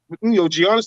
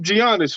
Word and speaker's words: Giannis: The G silence cut. I'm not calling that nigga Giannis. That just sounds crazy. Oh man, can't pronounce the G like Gucci.